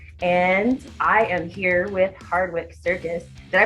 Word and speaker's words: Hardwicke Circus: rock news uk and i am here with hardwick circus did i pronounce that right that's right we've had a